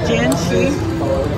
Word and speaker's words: Jin Shi: I wasn't sure I pronounced the game right. It's called Genshi Temple Guardian.